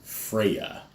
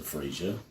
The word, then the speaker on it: Freyja: mythic legions action figures personally I like to use the pronunciation Freya as opposed to freesia that break huh freesia